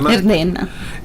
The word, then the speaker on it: Verdena: Bom, aproveitando o gancho, Sandra, nós separamos uma música aqui de uma banda italiana chamada, você corrija minha pronúncia, Verdena? Sim, Verdena.